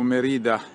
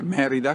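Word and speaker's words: Mérida: Sono a circa 5 km da Merida, perché dopo una vita che pronunciavo Merida mi hanno insegnato che è Merida con l'accento sulla prima E, e sono davanti al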